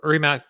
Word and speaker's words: Rimac: So Rimac Group is controlled by Mate. We say Rimac. I'm trying to pronounce it with the Croatian pronunciation. Yeah, be Rimac.